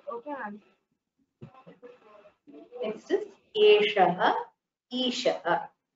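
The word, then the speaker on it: एषः: Next is Eshaha, Eshaha. Notice the difference in the pronunciation of this Shakara and this Shakara.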